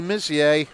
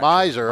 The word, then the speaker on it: Missier: And they have Abby Missier. Is it Missier? Is that how you say it? Miser, okay. Yeah.